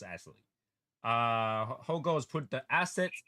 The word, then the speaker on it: Ixtelli: Ixtelli, yes, it's pronounced Ixtelli.